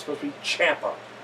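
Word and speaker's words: Ciampa: He said it rhymes with Tampa. So it's supposed to be Champa, not spelled Champa.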